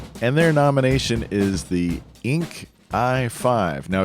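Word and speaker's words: Yinke: their nomination is the Inc I5 now it's y-i-n-k-e so in Mandarin Chinese that would be pronounced Yin Ka but if you want to say ink that works for me the ink I five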